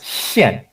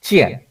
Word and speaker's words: 见: okay, now this word it's pronounced 现, okay, not 见, okay. 见 means to meet, okay, like 再见, see you again, right? Okay, you know, it means goodbye, okay, 再见. But this is 现.